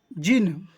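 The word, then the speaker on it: djinn: Then came the जिन, है ना, ये जिन लिखा हुआ है, डी यहाँ पर साइलेंट है, ठीक है।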